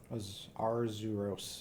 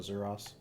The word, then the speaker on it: Arzuros: That is the Azuros. Or Arzuros. I forget how you pronounce them. Arzuros, yeah. Arzuros. I always just call it Azuros.